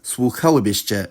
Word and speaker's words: słuchałybyście: When the conditional is formed, the stress doesn’t move- it stays where it was on the original past tense form.